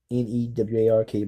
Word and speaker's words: Newark: Newark, but I know how to pronounce it right a little better.